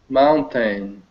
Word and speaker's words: mountain: Joseph mountain mountain right this is how most North Americans say mountain mountain what am I not saying this sound is very very light sounds very very lightly yeah it's almost as though it's not there at all right and you hear